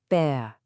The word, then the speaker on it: Bär: A regular A with no dots is Ah like we learned in Apfel. But once you add the Umlaut, Ä, the sound changes to be more like Air. Listen to this. Bär. Your turn. Bär. Big difference, right?